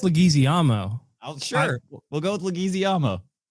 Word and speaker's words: Leguizamo: Jean-Claude Van Damme, John Leguizamo, the clown from Spawn. I really liked how you said that. How do you pronounce it?